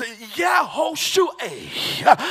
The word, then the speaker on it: Yehoshua: Joshua, whose name in the Hebrew tongue now is pronounced Yehoshua, which literally means Jehovah is my salvation.